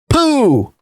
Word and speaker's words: Poo: says one of its Architects neuroscientist moo Ming poo look I'm not here to make fun of